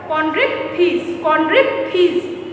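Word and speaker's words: Chondrichthyes: आप मेरे साथ बोलिएगा बिकॉज प्रोनाउंसिएशन इसका टफ है। कॉन्ड्रिक्थिस।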